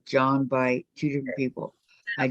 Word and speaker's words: Jean: I will and Gene my name is pronounced John in French Orlando is becoming a